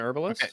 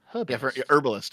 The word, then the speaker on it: herbalist: or okay yeah yeah for some reason North Americans use the French pronunciation can understand it's not a silent h oh the Mario know that what for an herbalist so herbalist yeah herbalist it's definitely